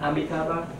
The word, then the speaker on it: Amitabha: Amitabha? Amitabha.